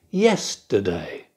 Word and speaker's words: yesterday: Photograph. Da da da. Yesterday. Da da da. Yesterday. Holiday. Da da da. Holiday. Stress on the first syllable.